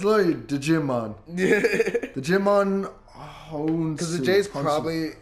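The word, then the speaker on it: Djimon: It's literally Digimon. Digimon because the J's probably, I don't know. I would say the J is silent.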